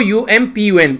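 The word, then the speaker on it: Amphan: वैसे AMPHN रखा गया पर लेकिन प्रोनाउंस करते हैं इसको UMPUN, ठीक है, UMPUN।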